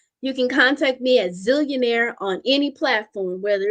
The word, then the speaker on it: Zellionaire: So the Zillionaire is ZELLIONAIRE. It is not ZILL. And I got to be dramatic because I'll spell it and people like ZILL. No, ZEALLION. AIRL, being zealous, having that fervor and tenacious desire to get it done.